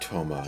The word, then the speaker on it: Thoma: pronounced Toma and not Thoma or Sama.